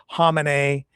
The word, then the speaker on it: Khamenei: his name, I know Khamenei is the way a lot of people pronounce it. I've always kind of pronounced the K to some degree. Khamenei.